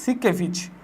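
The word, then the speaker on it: Siekevitz: সিকেভিচ। লই এবং সি কেভিচ। এস আই এস আই ই কে ভি আই টিজে বানানটা কিন্তু একটু অন্যরকম ক্রিটিক্যাল এস আই কেভিইটি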